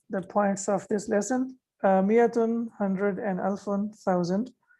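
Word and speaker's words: مائة: Miyatun and alfun are always used as mudaf. Okay. And we can see here that miyatun has an extra alif here. It's an added alif, but it is not pronounced.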